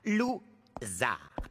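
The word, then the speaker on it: Lou Zarr: Mon nom se prononce Zar. Lou-Zar.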